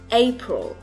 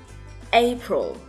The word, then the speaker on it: April: Tháng tư, April. April. Trọng âm nhấn vào vị trí đầu tiên.